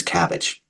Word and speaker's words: CABG: And then there's a CABG, would be coronary artery bypass graft, and just briefly referred to as CABG.